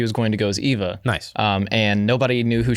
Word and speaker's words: Eva: Middle Gear Solid 3 yeah yeah so it's Eva what's funny about that is uh how I went a snake right my girlfriend decided that she was going to go as Eva um and nobody knew who she was so